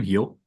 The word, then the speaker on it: Gil: a whole season so yeah he pronounce his last name heel yeah how have I gotten that wrong I've literally been say Gil like a lunatic Spanish didn't you